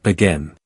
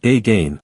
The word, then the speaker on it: again: Many learners are tempted to pronounce it as a gain with equal emphasis on both syllables, but that's not how native speakers say it. It becomes again where the first syllable is soft and transforms into thewah.